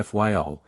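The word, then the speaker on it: Fayal: of the group FAL the people there pronounce it FY and put the accent on the first syllable we anchored in the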